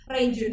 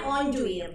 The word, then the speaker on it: Renjun: Oh, biasanya kebetulan Renjun. Sebenarnya bacanya Onjuin karena dia Onjuin. orang China.